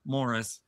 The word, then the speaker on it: Maurice: And as he reminds Uncle Morris, it's spelled Maurice, but it's Morris.